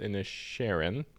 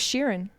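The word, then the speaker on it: Inisherin: okay best original screenplay Jonathan uh banshees of in the Sharon pronounced correctly I thought it was Sheeran like Ed Sheeran banshees even a Sharon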